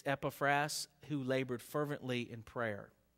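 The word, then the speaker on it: Epaphras: SE ceasing like epas I know some people pronounce it uh epais but but it it's epas who labored fervently in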